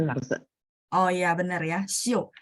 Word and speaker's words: 修: Oh iya benar ya, Xiu. Berarti ini bacanya nada 4 Bu.